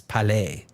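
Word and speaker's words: Cour-Palais: In French, you don't pronounce that S, Palais.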